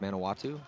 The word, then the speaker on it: Manawatu: Manawatu.